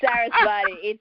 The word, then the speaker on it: Saraswati: Say it properly, Ginni. Saraswati.